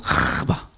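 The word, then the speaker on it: קוה: 이 앙망하다는 그 말은 히브리어로 카바라고 해요. 카바. 본토 발음으로 하면 카바.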